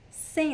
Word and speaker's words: sem: Você poderia fazer esse prato sem laticínio? Let's practice pronunciation. Repeat after me. Você poderia fazer esse prato sem laticínio? Remember the meaning of sem? Without. Sem. Careful, it's not the same pronunciation of sim.